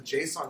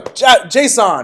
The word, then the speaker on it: JSON: I pronounce it JSON. Some people pronounce it Json, right? They'd have to say every single letter. Or Json. Some people actually say Json, like they're spelling it like Jason, right? But it's not. It's Json, right?